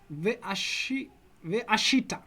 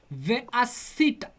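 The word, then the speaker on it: וְעָשִׂיתָ: Veashita. Careful about your shins and your sins. Veasita.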